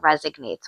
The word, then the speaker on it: resonate: I said, "Do you know there's no G or do you think there's a G in that word or not?"